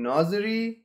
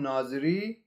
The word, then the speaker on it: Nazeri: watch the video together in kurdish pronunciation shahram nazari in kermanshah pronunciation shahram naziri in persian shahramen azeri was